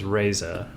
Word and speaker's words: Reza: it's a you know it's spelled re e zaa but you I say it as raaza right but how can you